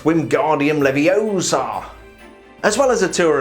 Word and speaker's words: Wingardium Leviosa: I believe it's pronounced Wingardium Leviosa.